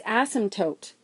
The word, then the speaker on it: asymptote: favorite math words and it is spelled kind of funny and it sounds like you're swearing it's asymptote an asymptote is just